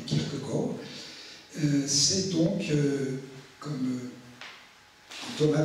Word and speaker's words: Kierkegaard: l'auteur de ce soir je vais le prononcer à la Danoise je vais rappeler Kirk Gor et non pas Kirk garde mais Kirk Gor euh c'est donc comme